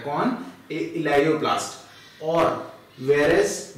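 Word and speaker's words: elaioplast: इलेयोप्लास्ट, इसको आप प्रोनाउंस करेंगे ELAIO, इलेयोप्लास्ट, ठीक है।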